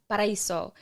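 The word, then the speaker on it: Paraíso: It's Paradise when I looked it up. It's Paradise. How do you pronounce it? Paraiso, which is crazy because I'm not Spanish.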